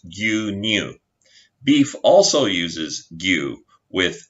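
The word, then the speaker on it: 牛乳: Milk uses ushi, but in this instance pronounced gyu, so milk is gyu-nyu.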